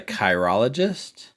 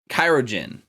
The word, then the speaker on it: chirurgeon: playing a research field that I can barely pronounce. Yes, that is the entire goal. You're Aurelia, the chirologist? Yes. Did I say it? Chirurgeon.